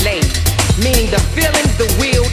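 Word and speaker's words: לב: The Hebrew term for the word heart is pronounced lev, meaning the feelings, the will, and the intellect of man.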